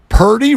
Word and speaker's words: Purdy: that no one said Purdy rhymes with turdy what yeah what are